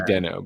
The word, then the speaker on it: Deno: Uh yes, it is contested, but Dino is most common. Okay. It used to be Deno, but now it's Dino.